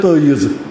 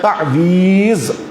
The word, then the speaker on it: تعویذ: تعویذ یا کشمیری کہتے ہیں تعیذ، یہ تعیذ یہاں کا تلفظ ہے لیکن اصل میں ہے تعویذ.